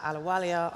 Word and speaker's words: Ahluwalia: to find you okay my surname is spelled a-h-l-u-w-a-l-i-a and that's Ahluwalia and so Ahluwalia.world is our